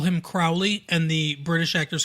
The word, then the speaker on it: Crowley: look it up and Crowley actually is the correct pronunciation of the name okay crow yeah even